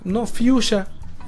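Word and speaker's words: Fiusha: Fuchsia, no como se escribe mamonamente fucsia o correctamente, si quieren llamarlo. Fuchsia, así como, como se escucha, como suena en español. Como Fuchsia. Fuchsia.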